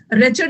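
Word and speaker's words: wretched: रैचर्ड भी याद रखना। डब्लू साइलेंट है।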